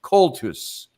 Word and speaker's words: Coultous: And I keep putting an R in the last syllable of Coultous.